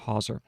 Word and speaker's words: hawser: We have twisted rope, but then we have hawser, and that's spelled h a w s e r, hauser.